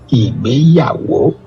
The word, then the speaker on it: Igbeyawo: It is pronounced IGBEYAWO.